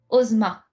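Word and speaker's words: Ozma: Ah mais ça faitma O M A et le S en japonais se prononce Z. Osma. Donc si vous connaissez pas Osma, moi je peux vous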